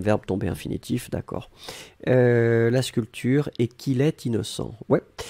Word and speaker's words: sculpture: Faites attention pour sculpture. Hein. Souvenez-vous, on ne prononce pas le P, on dit sculpture.